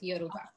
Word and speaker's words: Yoruba: Another thing that you said that really excited me was you mentioned Yoruba. Did I say it right? Yeah. Yes, Yoruba.